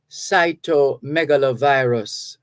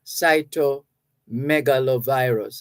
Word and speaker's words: cytomegalovirus: So when combined, what we have is cytomegalovirus, cytomegalovirus. And if you break it down in syllables, you find that it's not hard to pronounce.